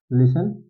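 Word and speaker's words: listen: word है जैसे कि लिसन इसको लिसन पढ़ते हैं हम लोग ठीक इसमें टी वर्ड साइलेंट रहता है लिसन पढ़ते हैं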